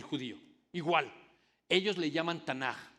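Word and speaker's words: תנ״ך: Igual, ellos le llaman Tanaj o Mikra. Y esa palabra son 3 letras del Tanaj: la T, la N y la K, aunque se pronuncia como J.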